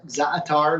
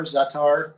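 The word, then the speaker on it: za'atar: many different varieties of zatar zaatar zatar we pronounce it um this one here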